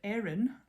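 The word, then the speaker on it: Eryn: It is the Erin plant hanger pattern, and Erin is spelled E-R-Y-N, and it is by Through the Loop Yarncraft.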